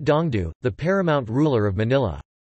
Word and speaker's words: 東都: Pronounced Dongdu, the paramount ruler of Manila.